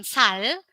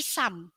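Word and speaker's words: 삶: ini artinya ayam dan yang ini juga dibacanya bukan sale tapi Sam artinya Kehidupan tak dan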